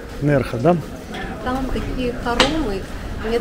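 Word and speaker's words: Nerja: этот городок называется нерха по-моему так нужно эту букву произносить Я думал Нера нерха Да там такие хоромы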